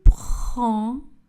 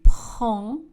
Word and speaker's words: prends: Je prends. Attention, le D et le S ne seront pas prononcés. Je prends une photo.